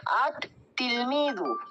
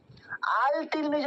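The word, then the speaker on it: التلميذ: তাহলে এখানে কি হবে, লামের উচ্চারণ হবে না, হয়ে যাবে আত তিলমিদু, আত তিলমিদু। আল তিলমিজু আমরা পড়বো না, কি পড়বো, আত তিলমিদু।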